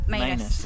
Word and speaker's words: Manus: Manus is how it's said.